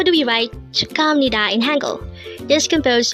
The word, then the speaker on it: 축하합니다: Again, this is pronounced as 축하합니다.